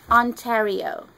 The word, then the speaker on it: Ontario: Ontario.